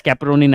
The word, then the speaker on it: chaperonin: Chaperonin, you can pronounce it as caperonin as well.